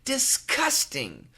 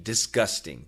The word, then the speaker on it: disgusting: also heard Americans say disgusting with a k sound so Tina of course the perfect answer is with a G disgusting disgusting disgusting but many